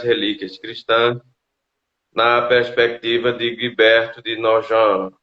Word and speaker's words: Guibert de Nogent: cristãs na perspectiva de guibert de nogent como ele disse que a pronúncia é francesa né apesar de não ser